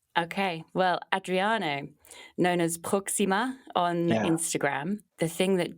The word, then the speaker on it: Proxima: you here Proxima or Proxima oh I don't know how do you say I speak French so I usually say it with a French accent and that would be simply like Proxima Proxima but you can call